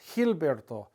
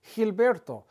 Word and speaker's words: Gilberto: at the G again the G when it's followed by an i or an e is kind of pronounced like the H sound it's like he hey